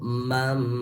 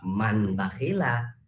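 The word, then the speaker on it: مَنْ بَخِلَ: Jadi membacanya itu mambakhila, enggak man bakhila.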